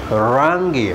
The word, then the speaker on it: rangi: r and you know the letter r is always pronounced with a rolling tongue you know for example rangi rangi means color so you say rangi wrong as you can